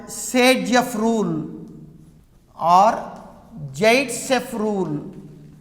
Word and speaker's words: Zaitsev: by a rule called Sagejeff rule or Zaitsev rule. Actually the name is Zaitsev, but it is pronounced as Sagejeff.